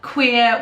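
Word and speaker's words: cuir: you like vanilla uh queer which is spelt c-u-i-r which is leather such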